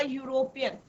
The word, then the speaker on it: यूरोपियन: अ यूज करेंगे, अ यूरोपियन, तो बच्चे हमेशा कंफ्यूज करते हैं कि अ यूरोपियन, यहाँ पे भी ई का प्रोनाउंसिएशन नहीं हो रहा, यूरोपियन का हो रहा है, यू का प्रोनाउंसिएशन हो रहा है।